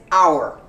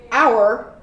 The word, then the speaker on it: our: your but it is our our we also just pronounced the our our family is big our it's like the letter R you do completely without